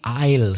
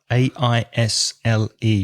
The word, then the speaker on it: aisle: prefer I prefer the aisle seat ai SL e be careful the pronounciation aisle the same pronunciation as I a processor fee Double L I will aisle and aisle exactly the same is it the